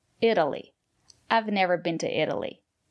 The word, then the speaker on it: Italy: these examples Italy Italian Italy the syllable after the letter T is not stressed or pronounce the letter t as a fast de Italy I've never been to